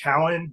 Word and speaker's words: Keown: last name's actually pronounced cowan that's pretty common because it's i mean it's not phonetically correct i guess um yeah that's that's